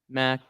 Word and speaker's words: macaron: Is it macaron, macaroon, Macaron?